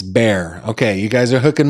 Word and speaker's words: Bexar: I think it's Behar. Somebody help me out. It's Bear. The X is silent. It's Bear.